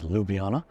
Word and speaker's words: Ljubljana: here to Ljubljana yes I was pronouncing it wrong originally it's Ljubljana and um the pub